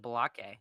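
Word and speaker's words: Baalke: you say his name it's like bake but it's spelled b a a l k bake I I call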